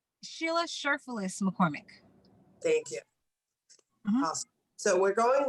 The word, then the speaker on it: McCormack: your name correctly so uh it's uh we'll pronounce it for me so i'm saying it correctly sheila sherpales mccormick thank you so we're going live on youtube